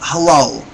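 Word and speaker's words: הילל: And in Hebrew it's pronounced halal, halal.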